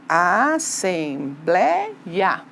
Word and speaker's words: assembleia: palavrinha assembleia por exemplo assembleia você tá vendo que ela não é mais uma oxítona ela é uma paroxítona não é porque olha não é a última sílaba tônica é a penúltima então eu tenho que